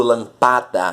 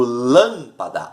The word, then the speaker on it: lâmpada: Lâmpada, eu não digo lampada, não digo lampadar, eu digo lâmpada.